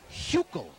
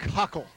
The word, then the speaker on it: Huckel: Huckel or Huckle? It's Huckel is the correct pronunciation. I like Huckle.